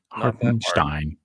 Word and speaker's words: Hartenstein: Just say it right, please. Stein, not Steen. Hartenstein.